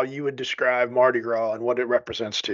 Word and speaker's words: Mardi Gras: We're doing the Mardi Gras Mambo in Baton Rouge, and there's like, I think, a 75% chance of rain that morning.